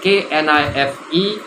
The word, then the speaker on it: knife: It is K-N-I-F-E, but it's pronounced knife. K-N-I-F-E is knife.